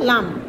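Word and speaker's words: لام: লাম, লাম উচ্চারণ হবে উপরে চারটি দাঁতের গোড়ার সংলগ্ন, উপরে চারটি দাঁতের গোড়ার গোড়ার সংলগ্ন, উপরে চারটি দাঁতের গোড়ার সংলগ্ন, থালুর সাথে জিব্বার অগ্রভাগের কিনারা, থালুর সাথে জিব্বার অগ্রভাগের কিনারা লাগাইয়া লাম উচ্চারিত হবে।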